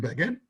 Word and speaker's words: Begin: what he said and it does not rhyme with fagin that's what he said now the mcgiller from menachem begin begging does rhyme with the fagan i mean listen pagan fagan it rhymes you could say i have nothing to do with fagin fine but to say it doesn't rhyme it does rhyme let's get it vegan fagin rhymes it does that's a story just